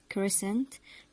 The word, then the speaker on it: crescent: examples we have these words scissors send science crescent descend ascend and their meanings are scissors is the tool which we use to cut things st.